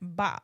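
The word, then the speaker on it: 八: So 8 is the most apicious there's that word again number in Chinese culture because its pronunciation ba sounds like fa which means to prosper or to get rich.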